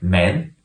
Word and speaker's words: mand: make it more complicated sometimes we put in a d but we don't pronounce it at all word full full full there's a D in the end also the word man men there's all I